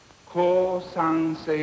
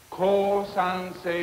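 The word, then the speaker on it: 降参: never as in ginger divide the words into syllables and try not to accent any one word or syllable the first word is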